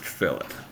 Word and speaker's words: fillet: go a fillet Edge it looks like filet but for some reason they pronounce it fillet the first thing I